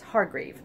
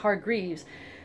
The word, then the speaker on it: Hargrave: Yeah, I still don't remember how to say it's Hargrave. I keep thinking it's Hargreaves.